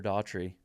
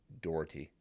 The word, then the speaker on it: Doherty: Heather Daughtry, second place at Wasatch in 2023. Doherty? I went with Daughtry like the singer, but I think I said it wrong. If it's spelled right, Doherty.